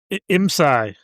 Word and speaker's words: IMSAI: IMSAI.